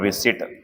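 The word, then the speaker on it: receipt: एक होता है बच्चों रिसिट, आर ई सी ई आई पी टी। P silent होता है, इसमें ई आई आता है सब में, ठीक है ना।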